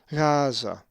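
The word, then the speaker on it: Γάζα: The accent is over the first alpha, Gaza.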